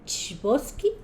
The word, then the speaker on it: Chbosky: Stephen Chbosky, no lo quiero pronunciar mal. Algo. Salud. Chbosky. Sí, ese, Chbosky. Él hizo el libro, creo que fue única novela, si no me equivoco, de él.